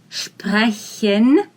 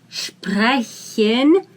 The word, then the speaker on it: sprechen: So let's talk about the verb sprechen. Sprechen. Very soft. Here, S we pronounce as sh, because if we see the combination of S and P, we say sp, like Sport, for example.